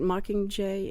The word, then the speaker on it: Mockingjay: that are besides the mucking in that right Mockingjay is that is how you say it yes